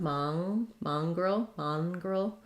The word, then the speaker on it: mongrel: This letter N says a NG sound, mongrel. And then the G, roll, I'd say that's a schwa. Almost no vowel there, mongrel. So thinking about it like mongrel.